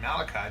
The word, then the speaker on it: Malachi: My name My name is Malachi, but it's c h i. And some people just don't understand that it can make a k sound, you know what I mean?